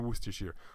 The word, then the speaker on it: Worcestershire: linking there okay so I'd also think it's pronounced as was just sheer but seriously would steer sheer well no not now you Worcestershire Worcestershire goodness I got old with my terrible